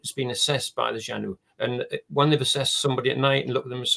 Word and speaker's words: Xanue: on the Facebook the Janu UK Forum Janu is spelled x a n u e but pronounced as Janu with a J uh jeanu XU Forum